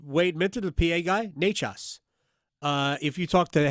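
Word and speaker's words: Nečas: I went to Martin Necas because they pronounce Necas' name like 11 different ways. So, say it fast so no one notices. No, it's pretty simple. It's Necas. Yep.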